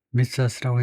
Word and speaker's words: Mythos: 발음은 아직 안 나오는데 미토스 마이토스는 아니고 미토스 5 영국에서는 미토스 미국도 미토스 똑같네요. 조금 발음 차이가 있지만 영국은 아무래도 오에 조금 가깝게 미토스 미국은 좀 I에 가깝게 미토스 그래서 앞에다 음절을 두고 미토스라고 읽는다 이제 미토스 5 오케이.